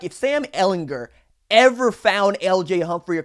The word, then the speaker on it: Ehlinger: turn the ball over Sam hard G Ehlinger goes back for the